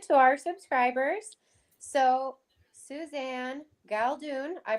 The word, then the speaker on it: Galdun: So, Suzanne Galdun, I pronounced Yep.